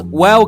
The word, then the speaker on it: و: To pronounce wow correctly, first round your lips slightly forward. Second, keep them close together, but don't press them tight. 3. Let the air flow smoothly while keeping your voice on.